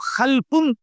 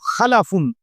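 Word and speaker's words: خَلَفٌ: একটা হল খালফুন আরেকটা হল খালাফুন। একই শব্দ শুধু উচ্চারণের মধ্যে একটু ভিন্নতা। মাঝখানে একটা লাম আছে। এ লামটার মধ্যে যদি সাকিন হয় তাইলে হল খালফুন। আর যদি লামের মধ্যে জবর হয় তাহলে হল খালাফুন। আরবি শব্দ।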